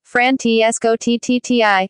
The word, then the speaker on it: Francesco Totti: Francesco Totti, official OMRI, Italian pronunciation, Francesco Totti, born the 27th of September 1976, is an Italian former professional footballer who played for Roma.